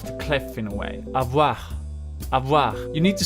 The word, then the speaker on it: avoir: You just throw it out there and you don't pronounce the ending as you would do in many languages. So it's avoir.